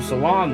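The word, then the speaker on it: Selan: And then he runs into Salon there, that's how you say her name, and they fall in love, get married, and have a child.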